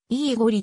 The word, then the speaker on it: イーゴリ: のメンバーであるなお名前の発音はイーゴリと表記するのが一般的であるドイツ再統一前